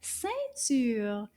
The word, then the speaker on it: ceinture: Let's try that again. Ceinture. Did you say deux syllabes? You are correct. Ceinture. C'est deux syllabes.